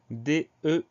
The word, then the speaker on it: deux: s'agit de l'adjectif numéral deux, ça veut dire du nombre de. Alors ce mot-là, le son E s'écrit EU, on a une lettre finale muette, c'est la lettre X, lettre finale qu'on retrouve